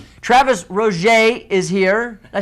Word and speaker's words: Travis Roger: Travis Roger is here.